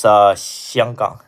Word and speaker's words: 香港: Uh, proper pronunciation. What? Hong Kong. It's 香港.